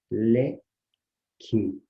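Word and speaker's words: leque: Le, que. Percebe que nós não pronunciamos esse U, aparece o Q e o E, mas não aparece o U, então o Q e o U formam um dígrafo.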